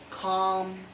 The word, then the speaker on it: calm: with the vector l the letter l on s1 rule that is usually not pronounced after the foul of the letter a o and u for examples like